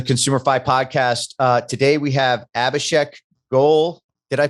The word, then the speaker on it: Abhishek Goel: Today we have Abhishek Goel. Did I pronounce your last name right? You did. Abhishek Goel.